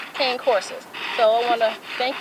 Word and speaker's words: Cane Corso: I was saying it wrong. It's Cane Corso.